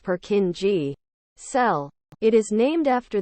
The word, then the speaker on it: Purkinje: the cerebellum is known as a Purkinje, commonly pronounced Purkinje, cell.